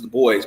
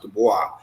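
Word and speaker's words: Du Bois: Barabas I mean everybody knows it's the boys but it's actually pronounced Dubois so if you look at those three people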